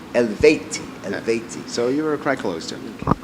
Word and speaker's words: Eluveitie: pronounced it right yeah pretty much the correct pronunciation actually elti elti elti so you were a c to nice